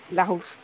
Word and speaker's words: Larouche: Do I pronounce the R with a R? Yeah, very well. Larouche.